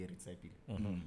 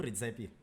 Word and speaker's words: Ritsepil: My name is obviously Ritsepil or Ritsepil. That's the way it's pronounced. Okay. But then I meet other people like at WhatsApp and be like, oh, Ritsepil.